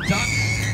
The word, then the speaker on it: DUKW: We're on a floating truck, which is officially known as a DUKW, but that's pronounced duck.